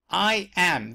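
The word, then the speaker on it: EyeEm: okay it spelled a little bit really it's I am that's how it is pronounced alright so you go here it tastes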